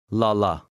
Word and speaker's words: lala: The second word has two short A's. Read the two words together. Lale, lala.